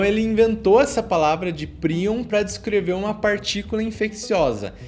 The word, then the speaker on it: prion: uma densidade absurda, ele para ensinar como se pronuncia o prion, que é prion.